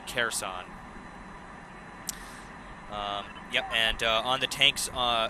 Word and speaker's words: Kherson: towards the city of Kherson. Kherson is the pronunciation. Thank you for that, Erica C. Kherson.